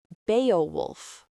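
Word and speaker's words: Beowulf: The name is pronounced Beaowolf. Now, the t-shirt Enid gives Wednesday says Bay of Wolf. Beaolf and Bay of Wolf sound almost exactly the same.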